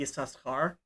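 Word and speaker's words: Issachar: that's famously called banay saskar and the second sin is pronounced but usually that's that's treated like it's silent and it always has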